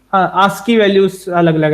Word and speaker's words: ASCII: क्योंकि इन दोनों की आस्की वैल्यूज अलग अलग है, ASCII व्हाट यू से, आस्की बोलते हैं शॉर्ट में, मतलब प्रोनाउंसिएशन में, शॉर्ट में नहीं।